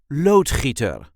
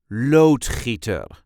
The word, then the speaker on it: loodgieter: see how to pronounce loader or plumber in English. This is the way we say loader loader. There is a light emphasis on the first syllable. Load heater.